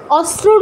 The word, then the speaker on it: অস্ত্র: আসে স্পষ্টভাবে সোলাদিস্ত্র কেমন আমরা কিন্তু অস্ত্রকে অনেক সময় বাংলায় অস্ত্র বলি দন্তস রফলাটা উচ্চারণ করি মাঝের তটা বাদ দিয়ে দি অস্ত্রর উচ্চারণটা কিন্তু অস্ত্র নয় অস্ত্র উচ্চারণ হচ্ছে অস্ত্র বাংলায় বললে অস্ত্র ঠিক আছে তটা বাদ দেয়া যাবে না তো এই সেম জিনিসটা